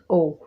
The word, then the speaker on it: owe: So the word of the day is O, and we pronounce it as O, which means in Hindi आभारी होना, कर्जदार होना या फिर देनदार होना.